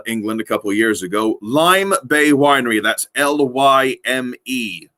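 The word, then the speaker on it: Lyme Bay: i left uh england a couple years ago lime bay winery that's l-y-m-e lime bay winery fantastic a section of meads and we've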